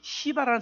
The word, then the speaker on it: 시바: 근데 그 사람의 이름이 시바라는 사람이에요. 시바. 이름이 뭐라고요? 발음을 잘 하셔야 합니다. 세게 하지 마시고 그냥 시바를 해야지 세게 하시면 안 돼요.